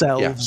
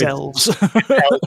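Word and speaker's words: Aelves: It's elves. Yeah. It just has an A at the front. You know, it's elves.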